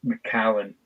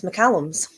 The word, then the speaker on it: Macallan: Or we can call it what everybody else seems to call Macallan is McCallum's. Oh my gosh. It annoys me almost as much as people who mispronounce Isla. Like, I think that one gives me the anger the most. But oh my gosh, the amount of people that call them McCallums.